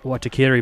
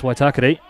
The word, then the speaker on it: Waitakere: Have heard it pronounced Waitakere before, but it's Waitakere.